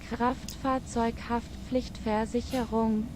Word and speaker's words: Kraftfahrzeughaftpflichtversicherung: Kraftfahrzeughaftpflichtversicherung. Yeah, I did pronounce that right. That pretty much. Yeah. Okay. Like CH is a little sound. Sort of like in Hebrew, you know, chet.